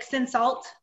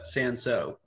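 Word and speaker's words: Cinsault: it they say like sin salt um yeah because yeah so it's a c-i-n-s-a-u-l-t yeah so one of those tricky french french words but it's pronounced uh sanso okay thanks yeah i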